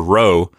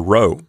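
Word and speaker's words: ῥῶ: people generally advise is to pronounce the letter rho like a rolled r not a heavy role but more of a light roll like you might hear in Spanish before we go Bill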